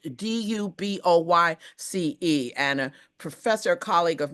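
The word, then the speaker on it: Du Bois: It is properly pronounced Dubois, as if it were spelled Duboyce.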